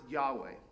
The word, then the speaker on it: Yahweh: normally translated as Lord, but it's pronounced Yahweh, as near as we can tell, because the Jews stopped saying it so long ago that we're not entirely certain.